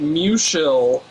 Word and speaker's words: Musial: his family and locals pronounced it Mushil instead of Musial.